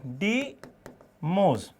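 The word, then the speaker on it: Deimos: डोमिनोज नहीं, डीमोज।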